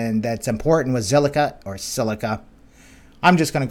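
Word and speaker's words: Zilliqa: Let's go take a look and see what is going on with Zilica. Actually, silica, and I've been saying it wrong. Yeah, silica as in silica oxide.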